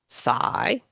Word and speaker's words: sigh: So as it says here in this title these other words uh in in these other words the gh is silent. Hi sigh though through although though.